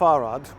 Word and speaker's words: Arad: In Hungarian it rhymes, Arad Marad, Arad stays.